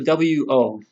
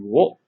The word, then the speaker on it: を: It sounds more like O with a slight inkling of a W sound at the beginning. So for example, we could say, watashi wa sushi wo tabetai desu.